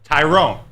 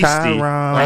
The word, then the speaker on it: Tyrone: Tyrone. That's how it's pronounced. As confirmed by Dan Hasty. Tyrone.